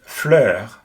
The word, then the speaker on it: fleur: In the first example here, we see fleur, which means flower, and a similar pronunciation would be the U in fur or in curfew.